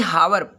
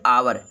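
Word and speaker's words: hour: ये हावर, लिखा तो हावर है, लेकिन इसको पढ़ेंगे आवर।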